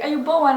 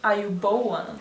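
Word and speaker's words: ආයුබෝවන්: I don't think you pronounced it correctly. Yeah, you did. Ayubowan.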